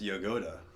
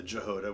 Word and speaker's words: Jahoda: And it's actually pronounced Jahoda in Czech. But, you know, when the old great grandparents came over, I guess they got it Americanized to Jahoda, which how it looks, Jahoda.